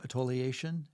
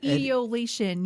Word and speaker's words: etiolation: Atoliation? Oh, etiolation. Yeah.